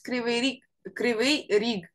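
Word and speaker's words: Кривий Ріг: In Russian, it's Kryvyi Rog. Kryvyi Rog. in Russian. In Ukrainian, it's Krivy Rig.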